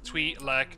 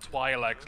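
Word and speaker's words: Twi'lek: live I was that even possible hey we loves us some tree like dancers and yes it's pronounced tweet like not why I like like some people pronounce it species lately maybe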